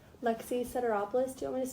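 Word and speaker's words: Sederopoulos: Lexi Ceteropoulos. Do you want me to spell it?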